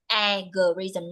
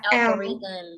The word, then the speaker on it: algorithm: I love hearing the word algorithm from your side but you have pronounced it like alorism not with o l algorithm okay yes